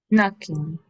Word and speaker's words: knocking: La K en inglés, así como está junto con una N, la K es muda, en cambio. Es como psicólogo que empieza con P. La P no se pronuncia. En English, la K no se pronuncia. Usted tiene knock, knocking, knife, es una K muda. Solo suena la N.